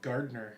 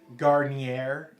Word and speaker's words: Gardner: I get Garnier. I'm not kidding. I've been called Garnier before. What, someone we know, their kid calls you Granite.